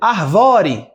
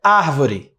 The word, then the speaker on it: árvore: Aí você, arvore. Não, é árvore. Não é arvore.